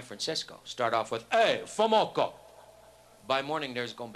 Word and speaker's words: FOMOCO: Ford Motor Company has a brand name for their parts division, spelled F-O-M-O-C-O, and it's pronounced phonetically. It's like Fomoco.